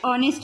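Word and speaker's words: honest: এখানে দেখো অনেস্টের আগে অ্যান হবে, তার কারণ এখানে যে এইচ কনসোনেন্ট দিয়ে শুরু হচ্ছে কিন্তু এখানে উচ্চারণটা কিন্তু ও এর মতো হচ্ছে, অনেস্ট, সেই জন্য এখানে অ্যান হবে।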